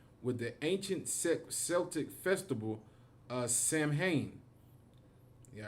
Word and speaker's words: Samhain: It says Halloween originates date back to the ancient Celtic festival Samhain, pronounced Samhain.